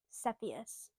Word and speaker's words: Cepheus: That's Cepheus. You guys don't remember. Cepheus is his name. A lot of people don't know how to pronounce it. Cepheus.